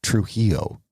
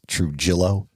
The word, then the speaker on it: Trujillo: In 1956, at the age of 13, Griselda met Carlos Trujillo. Now, for just us American gringos, it's Trujillo, but pronunciation-wise, it is Trujillo.